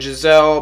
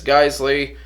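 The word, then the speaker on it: Geissele: Now, this is an ALG trigger, like I mentioned, and ALG is a sister company to Geisley Automatics. Some people pronounce it Giselle, but it's Geisley.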